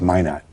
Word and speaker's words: Minot: It's Minot. Yeah, Minot, North Dakota. That's the French pronunciation. Yeah. We Americans call it Minot here.